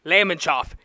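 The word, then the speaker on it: Lamonsoff: His last name, Lemonshoff. It rhymes with Olaf.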